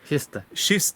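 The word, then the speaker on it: kiste: a k sound but because it's with an i it's a sh sound so she's telling you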